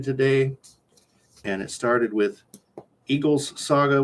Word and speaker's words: Egil: I got to page 100 today, and it started with Egil's Saga, which is not Eagle, it's Egil. So I don't know if I'm pronouncing it correctly.